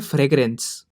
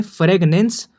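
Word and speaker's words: fragrance: बहुत बार बच्चे बोलते हैं फ्रेगनेंस और वो लिख भी ऐसे आते हैं, तो आपको ध्यान रखना है कि वो फ्रेगनेंस नहीं फ्रेगरेंस है।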